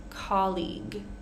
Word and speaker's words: colleague: pronounce the next vow colleague here we're just ending with the G the last three letters are or the last two letters are completely silent here colleague guest pronouncing the